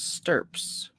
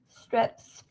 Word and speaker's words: stirps: How do you pronounce stirps? Strips. Oh. Strips. No, not strips. Stirps. It's got to be that, right?